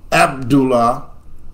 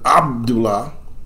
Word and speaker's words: Abdullah: ears that that's incorrect they'll probably continue to say Abdullah with a Al instead of Abdullah if they're not corrected